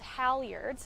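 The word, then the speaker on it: halyard: They're called howiards. Howards. And you spell that.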